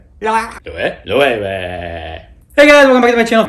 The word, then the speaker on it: Loewe: It's Loewe.